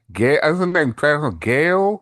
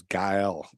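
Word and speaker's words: Gael: Gal Gal, it's Spanish.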